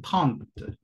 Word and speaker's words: trente: Normalmente sí se va a decir, la E es la que no se pronuncia, es como la regla fonética siempre, por lo tanto sería taunt, taunt. Pero también he escuchado que aspiran la T, taunt, taunt, taunt.